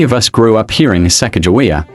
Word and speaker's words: Sacagawea: settled farmers and traders, called her Sacagawea, pronounced Sahkajweer, with that TS sound blended.